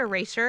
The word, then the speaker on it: Erasure: It sounds like eraser, but I wasn't trying to say eraser. I was trying to pronounce the sure part.